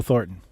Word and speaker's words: Thornton: My guest today is Neil Thornton, all the way from, well, originally from New York, currently living in Wellington, New Zealand. Please welcome to the screen, Neil Thornton.